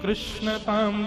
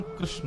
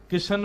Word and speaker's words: कृष्ण: बंधुओं, मेरा ऐसा एनालाइज है कि कृष्ण शब्द का उच्चारण अधिकतर लोग अशुद्ध करते हैं। लोग या तो किशन बोलते हैं या कृष्ण बोलते हैं, मतलब जो भी बोलते हैं।